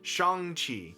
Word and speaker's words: Shang-Chi: I have learned that I have been pronouncing Shang Chi incorrectly this whole time. It's actually pronounced Shang Chi.